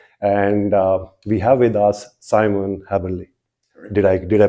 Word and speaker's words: Simon Haberle: And we have with us Simon Haberle. Did I pronounce it right?